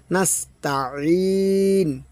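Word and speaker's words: نستعين: Change হয়ে যায় ইয়াকানাবুদুইয়াস যদি বলি এখানে হামজা এখানে কিন্তু হামজা হবে না এখানে আইন এর হল মাঝতে গলা চেপে আদায় হবে আইন নাসতা ঠিক আছে নাসতা এরকমভাবে তো আশা করি বুঝতে পেরেছেন পারতেছেন।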